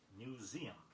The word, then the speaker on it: museum: Make 3 syllables out of the pronunciation of museum.